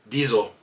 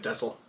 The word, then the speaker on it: Diesel: He defeated, I gotta say it right this time because apparently I said it wrong last time, Diesel. Yeah, last time you said Dessel.